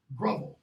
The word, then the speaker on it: grovel: Surly, birthright, elfin, disrobe, dawn, enshrine, drizzling, fleecy, grovel, not grovel, grovel, rhymes with hovel, not hovel.